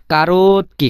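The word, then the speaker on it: короткий: আচ্ছা, তারপরে যে শব্দটি, সেটা হলো কারোতকি। কারোতকি মানে খাটো বা শর্ট বা সাইজে ছোট বা বেটে, আপনি যেভাবে বলতে পারেন, কোনো সমস্যা নাই। কারোতকি মানে কি?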